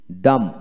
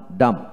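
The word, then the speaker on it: dumb: লক্ষ্য করেন, আবার বলবো, ওয়ার্ড এর মধ্যে বি এবং এম বি একসাথে থাকলে এবং বি এর পরে কোনো ভাওয়াল না থাকলে বি এর উচ্চারণ বিশেষ করে হয় না।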